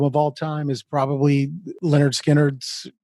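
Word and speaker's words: Lynyrd Skynyrd: all time is probably leonard skinner's pronounced leonard skinner is actually the title of it but if i had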